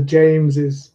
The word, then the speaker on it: James's: We add a vowel between the S of Thomas and the apostrophe S, Thomas's. It goes on to James's, Charles's, Liz's, Chris's, etc.